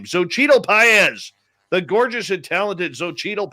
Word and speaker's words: Xochitl Paez: I finally learned how to pronounce his name. Xochitl Paez.